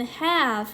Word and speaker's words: halve: Moderate aerobic exercise, 적정 수준의 유산소 운동은 can more than halve your risk for respiratory infections and other common winter diseases. 너를 have라고 써졌는데 이거 L은 묵음으로 소리를 낼 거고요. have인데 뭐랑 비슷해 단어가? half랑 비슷하죠.